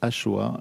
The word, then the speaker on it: axoa: basse k 69 points ça s'écrit axoa mais ça se prononce AOA et donc ce qui